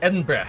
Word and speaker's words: Edinburgh: around Pittsburgh yep now that's how you say it it's it's Edinburgh Discovery Edinburgh gotta say it with the back of your the back of your throat me Edinburgh yeah I